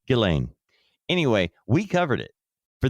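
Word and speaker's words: Ghislaine: Oh yeah, that was butchered so many times until we finally got to Gileain.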